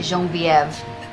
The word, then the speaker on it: Genevieve: coffee guys please Genevieve what the pretty name thank you I actually pronounce it Jean vieve sounds fancier you're new